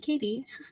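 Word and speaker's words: Cady: pronounced like k k it's pronounced like Katie oh okay so I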